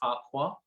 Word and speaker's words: Farquhar: She's based up in Dundee, up at Farquhar Hair, and it is pronounced how we used to say Lord Farquhar.